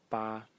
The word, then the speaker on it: 疤: The second character in this series is pronounced also ba in the first tone, and its meaning is a scar.